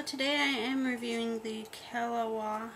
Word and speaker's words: Keliwa: I am reviewing the kaawa I believe that's how you pronounce it k e l i w a it is a silicone